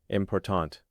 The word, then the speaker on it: important: The word important stresses the second syllable. Important.